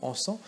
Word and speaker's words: encens: L'encens et l'essence ne riment pas véritablement, puisque dans l'encens, dans le mot encens, normalement on ne prononce pas le S final.